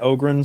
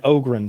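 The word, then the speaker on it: Ogryn: it means now oh did you watch that ogan story video I sent you I did I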